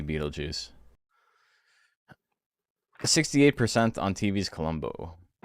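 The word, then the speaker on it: Betelgeuse: It's like Bethl Gos, but it's supposed to be Beetlejuice.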